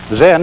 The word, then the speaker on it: Zen: this experience is dominant then of course is a Japanese word and it's spelled ZEM and that is the Japanese Way of pronouncing the Chinese word Chan and this in turn